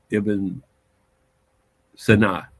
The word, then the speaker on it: Ibn Sina: They don't say Ibn, they don't pronounce it like you do. Ibn Sina.